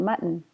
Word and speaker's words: mutton: a meat but mmm mutton stop T ma mmm mutton sentences if you have